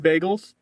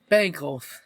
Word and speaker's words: Bengals: The Bagels. Bengals.